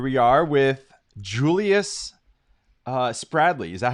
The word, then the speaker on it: Spradley: all right here we are with julius uh spradley is that how you pronounce the last name yep you got it